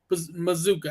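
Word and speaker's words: Mazzccua: It's pronounced Mazuka, actually.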